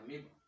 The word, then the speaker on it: amoeba: for simpler organisms like the amoeba or the amiibo you pronounce it so like the amoeba they have